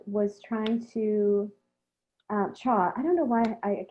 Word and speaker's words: Chau: So also, you're being asked whether John Allin Choir was trying to, Chau, I don't know why I keep mispronouncing Chau, was trying to replicate the challenges